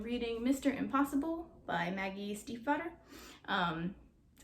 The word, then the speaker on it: Stiefvater: Impossible by Maggie Stiefvater. That's how you pronounce it.